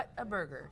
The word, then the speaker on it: Whataburger: was Whataburger just what what a burger and technically that's what it is a water water Whataburger that's just how you say it that's how it comes